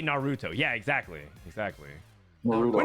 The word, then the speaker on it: Naruto: Nar wa no no you guys are saying narut no no Nar narut narut narut no you put the emphasis on the second Naruto really no it's like Nar it's like Naruto no Naruto is like the dubbed version Manar calm down control your rage Naruto that's like that's how they say it it just sounds so H